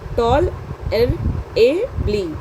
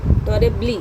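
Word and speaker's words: tolerably: तो ये ऐसे इसको प्रोनंसिएट करेंगे टॉल ए ब्ली टॉल ए ब्ली ठीक है द ऑर्डिनरी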